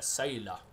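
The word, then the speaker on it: Sayla: Det är så man uttalar det. Saila.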